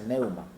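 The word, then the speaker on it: pneuma: esta palabra y en el griego es se pronuncia neuma, esto quiere decir espíritu.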